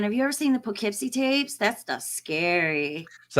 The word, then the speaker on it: Poughkeepsie: Poughkeepsie oh man have you ever seen the Poughkeepsie tapes that's the scary so that's how you pronounce it Poughkeepsie yeah all right Gene Hackman